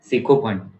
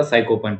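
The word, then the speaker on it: sycophant: म्हणजे निर्माण नेक्स्ट आहे सिकोफंट याला सायकोफ नाही वाच सायको च स्पेलिंग असते पी आधी असते जर इथे पी असता तो झाला असता सायकोफंट पण सिकोफंट म्हणजे फ्लॅटरल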